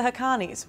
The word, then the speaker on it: Haqqanis: “Pakistan is under pressure from the US to launch a ground offensive in North Waziristan against the Haqqanis [Pronouncer: Hah - Con - Knees], which pose one of the deadliest threats to American forces inside Afghanistan.